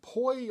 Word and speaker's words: poi: and it's spelled p-o-i so it sounds like it sounds like koi like the fish or koi as in bean koi but it's spelled p-o-i and it's poi is what they are